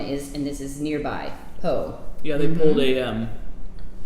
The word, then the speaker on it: Pau: the scent mateu p-a-u pronounced poe but this is goat